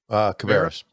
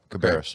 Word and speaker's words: Cabarrus: Cabarrus. Yeah, Cabarrus.